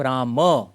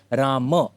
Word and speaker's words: राम: हम लेकिन सिर्फ म है मतलब राम। तो एक्चुअली संस्कृत का करेक्ट उच्चारण है राम।